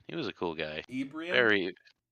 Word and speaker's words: Ibrahim: was a cool guy Ibrahim Ibrahim it's like Abraham yeah I was gonna